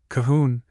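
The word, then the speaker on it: Colquhoun: On the floor above us are Miss Calhoun Kahun and her cousin Miss Cochran Sinclair Cobin Sinclair.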